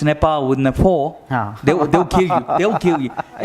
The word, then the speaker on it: Nepal: So it might set a good timeline to work and to do business in Nepal.